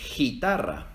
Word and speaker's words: guitarra: hay en el español porque si escribiéramos estas dos palabras sin la u se leerían mi gel y guitarra Entonces cuando se escribe G u e ig ui no se leen y we se leen como en Miguel y guitarra otros ejemplos son guerra